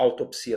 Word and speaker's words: autopsia: Então, a gente conclui que a palavra autópsia, que toda a vida existiu, hoje a autopsia também existe, as duas não são muito eloquentes para exprimir o exame cadavérico, né?